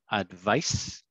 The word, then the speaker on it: advice: advise and advice and the differences in the pronunciation advice advice and advise vise yeah thank you okay